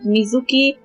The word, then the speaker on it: Mizuki: have two people named Mizuki but with different characters completely uh so uh the meanings are never the same so her name in correct pronunciation would be yum Mizuki Mizuki as for you it's